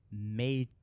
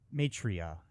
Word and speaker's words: Maitreya: I think that's how you pronounce. In Chinese Buddhist culture, Budai came to be revered as an incarnation of Maitreya, Maitreya.